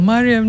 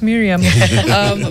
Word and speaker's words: Mariam: I don't want to mispronounce names, given that I'm always telling people, Mariam, not Miriam.